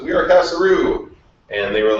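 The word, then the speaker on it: Kasaroo: So when we started to launch BuzzBuzzHome, we actually called ourselves Casa-Roo. And it was casa, like a house in Spanish, but spelled with a K. Roo, like a street in French, but spelled R-O-O.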